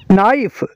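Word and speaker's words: knife: का के साइलेंट है नाइफ नाइफ का मतलब है चाकू नाइफ का के साइलेंट है रंग रांग का मतलब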